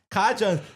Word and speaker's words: Kaja: Um, Kaja, it's Kaja.